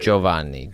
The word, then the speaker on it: Giovanni: Do you have Jovanni Jovanni? Joan like you say Joe and then Vanie.